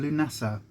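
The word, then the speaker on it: Lughnasadh: easier to say than lunasah and when we say lynessa i'll put it on screen because lunato is actually spelled very very different to how it's pronounced um and it's actually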